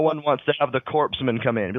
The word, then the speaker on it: corpsman: JD like saying something about like you don't pronounce the s in in Corman oh yeah no no one wants to have the corpsman come in be like don't worry I'm calling